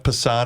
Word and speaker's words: Passan: Pat, the best clip I saw this week, Dan Patrick had, is it Jeff Passan? Is that his name? Is that how you pronounce it?